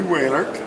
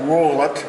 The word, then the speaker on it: Whalert: Whalert, and it's pronounced, we always pronounce it Whaler instead of Wollet, or Wollert, and anyway, he married to my older sister.